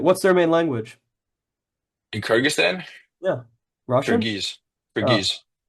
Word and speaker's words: Kyrgyzstan: Okay, from Kyrgyzstan. Why are you pronounce Jesus J?